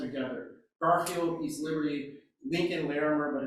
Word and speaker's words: Larimer: Garfield East Liberty Lincoln Larimer but it's pronounced by locals larmer and the Homewood Russian